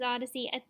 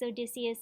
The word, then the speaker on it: Odysseus: But his like way home is just, I think, did I say his name was Odyssey? It's Odysseus if I said the wrong thing, sorry.